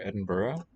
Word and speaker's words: Edinburgh: snog it is and note in the pronunciation of this english name of edinburgh that the gh is a vowel sound it's one that i often overlook puzzling very much thank